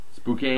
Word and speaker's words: Spokane: Spokane? Spokane Shock. I believe how it's pronounced.